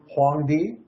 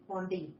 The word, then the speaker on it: Huangdi: And the Chinese emperor, pronounce it, dear. It's Huangdi. Huangdi. Okay. The Chinese emperor Huangdi, who was alleged to be the founder of